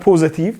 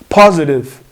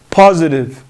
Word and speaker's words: positive: is not positive it's positive positive like I said earlier when t comes between two vowels we pronounce it like a sound between R and D we don't say positive we say positive positive okay so positive